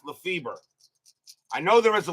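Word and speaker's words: Lefebvre: double in the game there is one player that used to be known as Lefay and one pronounced Lefever I don't remember which one it is but I know I actually do I do believe that Joe laf fber is the the guy has pronounced LEF feber I know there is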